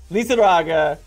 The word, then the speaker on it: Lizarraga: It is Lizarraga as Esmeralda. You said it right! You even kind of rolled your R.